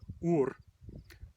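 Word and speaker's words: úr: Then there's ur, same pronunciation both ways.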